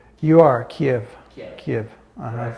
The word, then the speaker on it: Kyiv: Am I pronouncing it right? You are Kiev.